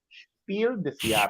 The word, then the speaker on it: Spiel des Jahres: Well, we had to learn it because we wanted to pronounce Spiel des Jahres correctly. Spiel. Spiel des Jahres.